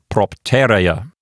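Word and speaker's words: propterea: It ends with the letter E, which is a vowel. So there's nothing to make the penult into a long syllable here. So the accent will go to the left one notch to the antepenult. And so this word will sound like propteria.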